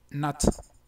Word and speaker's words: not: Bueno, les recuerdo que esa última O se pronuncia muy relajada y que pudiera tender un poquito hacia una A, pero sin dejar de ser O. O sea, es not.